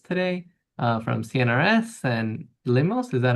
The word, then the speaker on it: LIMOS: So, uh, we're really excited to have, uh, Sophie Hubertz today, uh, from CNRS and Limos, is that how you pronounce it?